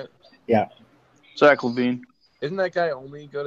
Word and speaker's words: Zach LaVine: Zach LaVine.